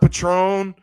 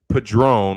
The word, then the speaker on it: Padron: So but it's pronounced Liam Padron, like a drone.